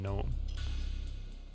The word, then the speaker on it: gnome: Yeah, the G is silent in gnome.